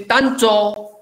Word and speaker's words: tancho: This is tancho. This is ticho. This is tancho. Ta, ta. This tancho. N nasalizes this vowel. It is a, it's a nasal vowel.